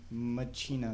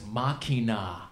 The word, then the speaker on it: Machina: day going, "No, it's machina, machines of grace." Well, that is how it's pronounced in the Latin pronunciation is machina. But when the man that wrote it can call it machina.